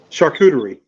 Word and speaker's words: charcuterie: Charcuterie. Like a Oh, charcuterie board. Charcuterie board. Oh, wow. And the way I remembered to actually pronounce it, I started saying shark cootie. Shark cootie board.